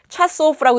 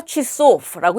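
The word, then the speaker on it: часов: 그래서 여기도 역시 차소프라고 읽는 것이 아니라 취소프라고 읽습니다.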